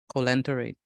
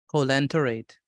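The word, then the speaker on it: coelenterate: Can you pronounce it? No, sir. Colenterate. So say that for me. Could you say that one more time? Colenterate.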